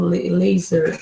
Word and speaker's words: LZR Racer: Acho que se lê como laser, o jeito certo, a pronúncia.